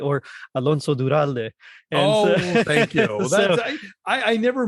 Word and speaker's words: Duralde: But if you want to follow me, on Twitter at @Duralde, ADURALDE, I link to all the stuff I'm doing.